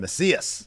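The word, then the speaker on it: Mesías: I think it's El Messias, isn't it? Messias. Yes, thank you. Because it's like Messiah to win the Latin American title in 10 minutes 16 seconds.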